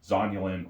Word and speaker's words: zonulin: They're not on all of them, but zonulin or zanulin, depending on how you like to pronounce it. I say zanulin, I think that's wrong. I think it's actually zonulin, but whatever.